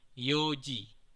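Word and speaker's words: 四時: 4 itu biasanya kita baca yong atau shi. Namun dalam pengucapan jam kita harus mengucapkan yong ini menjadi yoji.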